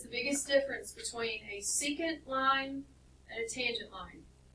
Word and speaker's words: secant: Now, although I said don't pronounce this as the word second, because it's not, it's secant, it does look like the word second, right?